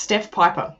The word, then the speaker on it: Piper: the second yes yeah it's just steph piper as in the pied piper there we go oh